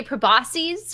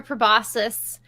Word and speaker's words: proboscis: Now, you can say proboscis or proboscis. I always thought it was proboscis, and I think there are a few pronunciations of this word.